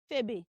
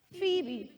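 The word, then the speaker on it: Phoebe: that name is not febe it is not phobe no the right pronunciation of that name is Fe everybody say Fe B Fe that's it phbe can we say that phebe again phebe good so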